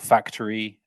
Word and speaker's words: Factary: There's a company called Factory, which is spelled Factary, based in Bristol, which